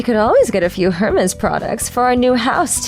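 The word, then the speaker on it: Hermès: without saying anything else I knew that Hermes was spelled h-e-r-m-e-s oh I could understand the mistake but I restrained myself from lecturing them that you don't pronounce the h in the company's name this is gonna help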